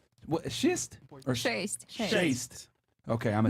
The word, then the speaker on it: шесть: Шесть. Bless you. Shaste? Shaste? Шесть.